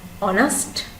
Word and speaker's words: honest: silent t next one honest honest honest has a silent h last one often often